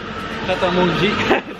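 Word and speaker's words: Pret A Manger: Pret a Manji.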